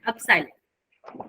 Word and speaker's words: epsilon: लगाएंगे 1/4 पाई, और ये जो एक सिंबल है इसको हम बोलते हैं अपसाइलन। ये इसका नाम नहीं है, प्लीज ध्यान रखो, ये बस आवाज इसको Yes, बोलते ma'am. हैं, प्रोनाउंसिएशन है अपसाइलन।